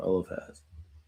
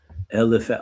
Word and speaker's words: Eliphaz: Eliphaz. Eliphaz. Okay, with the F. Eliphaz.